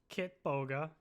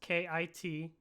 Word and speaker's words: Kitboga: One channel is Kit Boga. It's Kitboga.